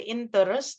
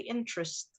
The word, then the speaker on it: interest: want to sound better you don't pronounce the e in the middle so you don't say interest but actually interest yes interesting interest there